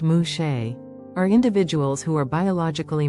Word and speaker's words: muxe: society in wahaka Mexico muks pronounced mushe are individuals who are